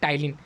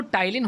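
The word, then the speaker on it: ptyalin: यहाँ पर बात की जा रही है टाइलिन, तो टाइलिन लिखते समय ध्यान रखिएगा, पी साइलेंट है यहाँ पर टाइलिन।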